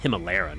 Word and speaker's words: Hima: Hima, not himalora.